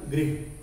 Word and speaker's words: गृह: ग्रह, गृह, उच्चारण में भी अंतर है, आप ध्यान दीजिए, लगभग समान है, समान नहीं है, लगभग समान। ग्रह, गृह, ग्रह, गृह, तो वर्तनी